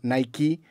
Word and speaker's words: Nike: lo que acabamos enfatizando Nike su sílaba tónica es la primera Nike Debería ser la segunda